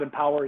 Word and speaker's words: EMPWR: At Empower, it's spelled EMPWR, EMPWR, as you can kind of see here.